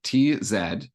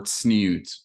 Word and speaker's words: tzniut: Yeah, if I were to spell it in English, I would say Tznius is the kind of Yiddish inflected version of it, the Ashkenazi version, or tzniut would be the Hebrew version.